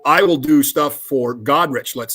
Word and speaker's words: Goderich: So I will do stuff for Goderich, let's say. Well, the town is called Goderich, not Goderich, and people will call it Goderich.